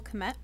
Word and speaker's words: Kmet: I'm going to go with Cole Kmet.